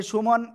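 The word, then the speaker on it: ث: আদিল কোন দিকে তাকাচ্ছেন জিহ্বার আগা জিহ্বার আগা উপরের এই দুই দাঁত দুই দাঁতের আগায় লাগাবেন লাগিয়ে হালকা বাতাস বের করে আমরা উচ্চারণ করব সা সবাই বলতে হবে সাজে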